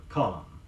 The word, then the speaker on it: column: Now the word column, C-O-L-U-M-N. Note that the final N is not pronounced.